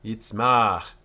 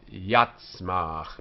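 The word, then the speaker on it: יִצְמַח: Yitzmach, yitzmach, which has the chirik under the yud instead of patach. So it's not yatzmach, but yitzmach.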